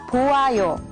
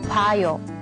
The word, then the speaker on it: 봐요: So in this case, it's not 보아요. But the correct way to say it is 봐요.